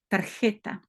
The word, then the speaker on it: tarjeta: Et donc, le J en espagnol se prononce comme tarjeta de crédito.